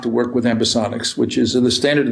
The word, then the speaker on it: ambisonics: of your your product right now um amb ambisonics am I pronouncing that properly yes okay perfect um now